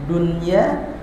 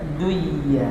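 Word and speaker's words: دنيا: idgham tapi diizharkan bacanya contoh lafaz dunya dan sin waun di sini ada nun mati bertemu apa wau enggak boleh dibaca gini siwwa harus sinwa itu dikecualikan di dalam hukum idgam tengah kalimat adanya dunya enggak boleh duya harusnya nya duya harusnya kan duya.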